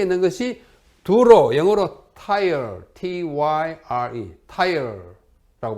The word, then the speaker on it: Tyre: 남쪽에 있는 것이 두로, 영어로 Tyre, T-Y-R-E, Tyre라고 발음합니다.